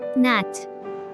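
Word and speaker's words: gnat: ন্যাট, নাট, মশক, এক ধরনের মশা। নাট, মশক, এক ধরনের মশা। এখানে জি লেটারটি অনুচ্চারিত থেকে যাচ্ছে।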